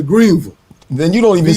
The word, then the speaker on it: Greenville: You can't say Ville. It's Greenville. I'm from the East Coast. We say Ville here. Yeah, so well, I'm from Texas. It's Greenville.